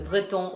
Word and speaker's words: Breton: I'm pronouncing it French, Breton from, France, Bretagne.